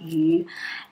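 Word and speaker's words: 鱼: is fishing new year because fish in chinese pronounce you and you basically it's the same pronunciation like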